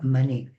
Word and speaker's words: Manet: Si queremos ser rigurosos con la pronunciación francesa, la e final debería acentuarse de tal manera que sería mané, tal como decimos moné, aunque hay una t que no suena.